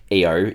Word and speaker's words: Io: of this is that I/O or EO is the fifth of Jupiter's um satellites and the third larger so it's it's a moon and um you can pronounce it either way so if I slip